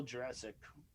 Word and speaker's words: Jurczyk: It's Paul Jurassic, not Jurassic. That sounded wrong.